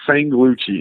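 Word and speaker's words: Sanglucci: It's Sang S A N G. Okay. Sang like uh a woman sang s a n g luchi l u c c i okay you got that sangluchcci and uh he's got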